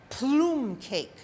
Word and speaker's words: plum cake: And today we're going to make something called plume cake. That's how it's pronounced in Italian.